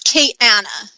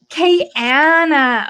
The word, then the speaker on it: Kayana: you say your name so it's Kate Anna Kay Anna okay okay Kiana in my mind you're